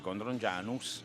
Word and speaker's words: Codrongianos: Come Codrongianos, si dice Codrongianus, ma si scrive Codrongianos.